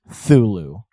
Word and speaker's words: Cthulhu: I believe Lovecraft said that the closest he would say is Thulu. Okay. Or Cthulhu is another one that I believe he had said at one time.